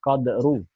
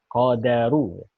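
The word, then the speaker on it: القدر: Maksudnya berarti kita bacanya bukan qadru, tapi qadaru. Dalnya kita baca fathah.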